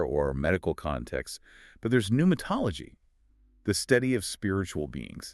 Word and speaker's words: pneumatology: Most of those new words relate to air or medical contexts, but there's pneumatology, the study of spiritual beings. Ah, yes. It still has the silent P, but it feels completely out of left field.